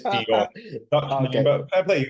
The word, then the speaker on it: De Jong: Okay, 90% of people pronounce it wrong, and you're one of the 90%. Sorry about that, Mahesh. It's De Jong. Okay. But fair play, you can call me De Jong.